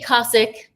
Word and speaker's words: Kosik: Casic. It's Casic. If you pronounce it, I'll I'll still I'll still love you.